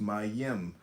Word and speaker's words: Mem: It's called comment on mem pronounced my yim transcribed as m the number 40 meaning water the stable intelligence.